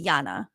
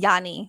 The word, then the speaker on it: Jana: stand up and say no it's actually Jana and believe me I've gotten that a lot in my life I get Yani all the time or